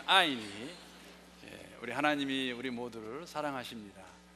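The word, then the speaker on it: 爱: 그 한국말로 그 애자라는 거, 사랑의 애자, 그 중국말로 중국 발음은 아이입니다. 아이.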